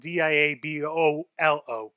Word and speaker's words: Diabolo: I just find it easy to say Diablo, but it's really Diabolic. It's spelled Diabolo.